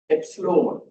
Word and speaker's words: epsilon: It's not pronounced as E. It's pronounced as what? Epsilone.